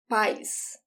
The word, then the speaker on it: paz: to pronounce it, is as if there is an I between A and Z. Paz, paz. So both pronunciations are correct. You don't have to worry about it. It's just different places in Brazil pronounce this word a little bit differently.